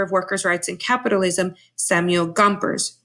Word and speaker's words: Gompers: workers rights and capitalism Samuel Gompers rhymes with chompers now this outside information